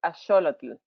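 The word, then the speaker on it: axolotl: i say it right in spanish and in nahuatl or the aztecs language is asholotl so these animals are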